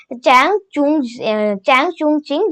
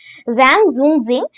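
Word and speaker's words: 张仲景: तो एक medical science में एक इनके मेन लीडर थे चैंग चुंग चिंग, जिनका प्रोनाउंसिएशन है जैंग जुंग जिंग।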